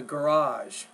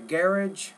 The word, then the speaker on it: garage: one the or oh so the garage the garage or garage depending on if you're speaking British English or American it's so convenient for